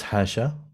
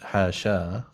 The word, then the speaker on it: حاشا: The final alif is not written in the Quranic verses and is generally not pronounced. If we're being hafso-normative about it, it's actually, no, it's hasha. It's not hasha. That's a mistake. No, it's not a mistake. It's another qira'ah.